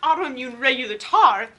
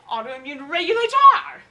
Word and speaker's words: autoimmune regulator: she did it wrong it's not autoimmune regular Tarth it's autoimmune regulator and that presents the